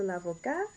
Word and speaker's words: avocat: So l'avocat, no pronunciation of the T.